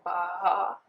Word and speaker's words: Baja: I think Americans pronounce it as Baja. That's how they pronounce that, Baja Blast or whatever. I'm going to say Baja because we pronounce our J's here.